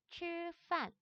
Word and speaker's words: 吃饭: 그래서 얘를 발음할 땐 치라고 하지 않아요. 얘는 츠라고 발음을 하셔야 됩니다. 그래서 발음을 하게 되면은 吃饭吃饭이라고 발음을 해서 밥을 먹다 라고 말을 합니다.